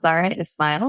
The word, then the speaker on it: Zahra Esmail: here today my name as you mentioned and pronounced very well is Zara Ismail my pronouns are she her and hers and